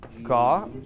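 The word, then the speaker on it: gauche: Is that how it's pronounced? Gauss? Gauss? Yes, yes. It's French, yeah.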